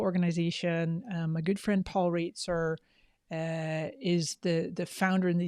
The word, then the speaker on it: Roetzer: My good friend Paul Reitzer is the founder and the CEO, and he is just amazing. It looks like Roetzer. Is just and it's pronounced Reitzer.